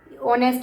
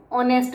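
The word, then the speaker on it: honest: ऑनेस्ट में H silent रहता है इसलिए हम इसको ऑनेस्ट रीड करते हैं।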